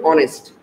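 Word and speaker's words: honest: দি হবে, কারণ কি, কারণ হচ্ছে এই এইচ উচ্চারণ হবে না, সুতরাং এইচ যদি উচ্চারণ না হয় তাহলে সাধারণত এখানে উচ্চারণটা হচ্ছে ও, ও তাহলে কি হবে, অনেস্ট, অনেস্ট কি হবে, অনেস্ট, দি অনেস্ট পার্সন,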